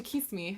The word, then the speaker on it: Kisame: also introduced to Kisame, who that wasn't a mispronunciation. That is his actual name.